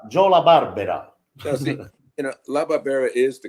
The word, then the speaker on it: La Barbera: made Oliver Berra yeah that is the correct Jolla Barbera you know LaBarbara is the correct pronunciation but of course like many families that